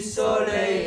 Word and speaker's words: soleil: Et les amoureux du soleil en liqueur. Soleil. Le O est ouvert.